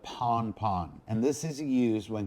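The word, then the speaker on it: pan-pan: one is pon pon this is pronounced pon pon or simply put pon pon and this is used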